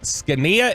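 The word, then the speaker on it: Zgonina: defensive line coach Jeff skania if you were going to Google that good luck because it is not the way that it is phonetically pronounced skania z g o n i n a if that name sounds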